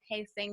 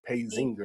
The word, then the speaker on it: Paysinger: my last name right a lot of people especially on the East Coast like to put the Z at pacing they're like Paige Inger and I'm like wow